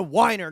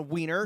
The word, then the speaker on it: Weiner: It's Jonah Weiner, not Jonah Wiener.